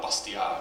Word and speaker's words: Bastiat: Friedrich Bastiat, or Bastiat, if you pronounce it properly, wrote that paper.